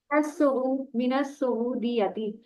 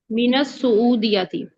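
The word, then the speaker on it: من السعوديات: मता मता हजरता मिनल मता हजरता मिनल सऊदियाती मिनस सऊदीयती, ये सीन जो मिनस है शमसी में से है, इसकी लाम साइलेंट होगी शुरू वाली ना। मिनस सऊदियाती।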